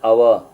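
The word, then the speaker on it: hour: ಅಂತ ಹೇಳಿ ಸೊ ಹೀಗೆ ಹಾಫ್ ಆನ್ ಅವರ್ ಅಲ್ಲಿ ಹೆಚ್ ಇದ್ರುನು ಹೆಚ್ ಸೈಲೆಂಟ್ ಆಗ್ತದೆ ಓ ಅಂತಕಂತ ಧ್ವನಿ ಅ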